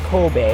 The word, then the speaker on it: Kobe: It's not Kobe, by the way. It's Kobe. Kobe. Thank you for that Kobe beef. Kobe, not Kobe.